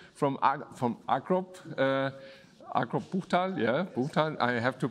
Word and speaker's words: Buchtal: On my side, of course, our Sopo technicians and our guest from Agrop, Agrop Buchtal, yeah, Buchtal. I have to pronounce this Buchtal also, okay?